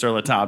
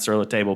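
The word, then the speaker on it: Sur La Table: say table and also if you want me to pronounce the name of your store with a french accent don't be in a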